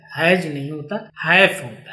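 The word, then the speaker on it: hash: लेकिन इसका क्या है, हम गलत उच्चारण करते हैं। उच्चारण क्या करते हैं, यहाँ पे हम इसको हैश कहते। तो हैश तो सही है, लेकिन हम क्या कह देते हैं, हैज दबाना, *123#, जो कि क्या है, गलत है।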